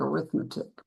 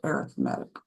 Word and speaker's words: arithmetic: arithmetic and geometric sequences and it looks like arithmetic but it's actually pronounced arithmetic arithmetic and geometric sequences at this range so